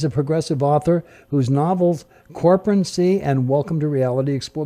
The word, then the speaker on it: Corporacracy: Oh, it's Corporacy. I guess, Jerry, I said that wrong, didn't I? Yes. Okay, give me the right way to say that, and I'll start it all over again. Corporacracy. Oh, corporacracy. I got it.